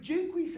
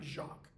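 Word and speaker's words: Jaques: it's very utopic but jqu has a problem and that's how his name is pronounce not Jac jqu has a problem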